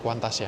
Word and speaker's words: Qantas: terbang lagi naik kuantas meskipun tulisannya kantas tapi bacanya kuantas ya kuantas gitu guys.